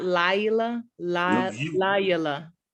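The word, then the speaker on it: לילה: So it'd be la, not lay or la. It would be la. Laila, There you go. Laila, See, you're saying la.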